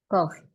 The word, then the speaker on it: cough: Jadi kayak GH-nya ini jadi F. Jadi kayak love. Love. Sama kayak ini. Ini bacanya apa? Cough. Cough. Cough. Bacanya cough.